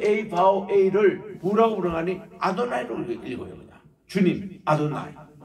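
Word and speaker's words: אדני: 유대인들은 지금도 요드 A 바오 A를 뭐라고 부르냐니 아도나이로 읽어요. 주님 아도나이. 따라합시다. 아도나이. 아도나이. 그렇게 읽어요.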